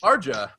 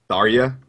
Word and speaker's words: Tharja: The JA is like a soft. Yeah. yeah, it's like it's just a silent J.